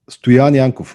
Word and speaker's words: Stoyan: over to you over to me asi kazoom stuyani yeah i'm gonna stick with mine if i